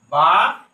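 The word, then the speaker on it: باء: বা নিচে এক নক্তা।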